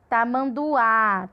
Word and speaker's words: tamanduá: Tamanduá, tamanduá. A gente chega, abre mais a boca para falar. Então, a sílaba tônica é a última, Que é o duá.